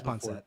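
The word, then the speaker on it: pancit: Oh yeah, you've definitely had you've had panset. Is it pronounced panset or panchchet? Panset. Panset.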